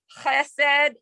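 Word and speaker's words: חסד: Chen is like in challah, like yeah, I'm trying to think challah or chesed. So it's kind of like your Chanukah, like you're coughing something up in the back of your throat, like trying to like.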